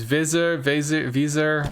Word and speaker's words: Weser: The Weser, it's really particular, and I don't have it correct. To which somebody said it was the Visa, like Visa MasterCard. And then to me that was funny, but it's Visa.